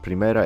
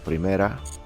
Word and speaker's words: Primera: I'm pronouncing it in Spanish. Like this Primera, it means first in Spanish. So Primera.